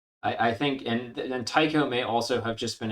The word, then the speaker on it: Tycho: themselves imply that the the ai's name is pronounced tycho um and i think that might be how a couple of bungee employees pronounced it but it's based off otiko brahe who i think pronounced his name with the e sound rather than the i don't know i i